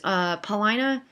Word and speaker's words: Paulina: that he's being irrational tyrant so she was Paulina and that's the way you pronounce at paulina is showing has come to